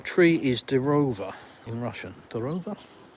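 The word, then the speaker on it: дрова: Drova O on the end of a word is quite often pronounced as ah.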